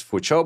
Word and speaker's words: Fuqiu: I guess it is pronounced fucho. It's a Chinese name. And then this the like the kiwi is mostly as a cho kind of sound. So I think it's for cho.